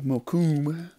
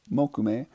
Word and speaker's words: mokume: Ione assume you say and then they have mokume which I've heard people say mokume Sam alone no it's mokume and then I know I'm a stickler for